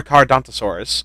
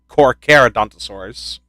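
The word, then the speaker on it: Carnotaurus: also two things one that is not how you pronounce it it's car caraus not coronasaurus and second it's it's longer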